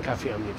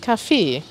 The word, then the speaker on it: Café: dem man kaffee trinkt da benutzen wir tatsächlich die französische schreibweise mit c und einem e und ein axa und am ende und das spricht man das café aus also man trinkt kaffee